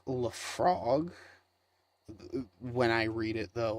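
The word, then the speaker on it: Laphroaig: uh and what is it it's uh it's pronounced Le frog when I read it though I read it as laugh rag just because it's what it looks like it's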